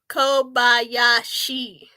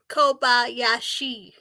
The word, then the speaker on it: Kobayashi: course Racers that um I think the last name is pronounced Kobayashi Kobayashi okay thank you so